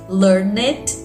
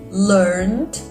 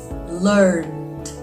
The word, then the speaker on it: learned: it called learn it learned love it loved can you notice the difference exactly we don't pronounce the e in words that finish in e d one more time repeat